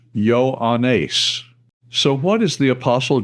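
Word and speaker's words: Ἰωάννης: Yoda Omega alpha new eta sigma pronounced yo anace.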